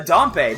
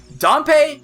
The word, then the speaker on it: Dampé: also specific time dependent dumpe or dampe I I keep switching how I want to pronounce it I guess it would be DPE wouldn't it uh dumpe only comes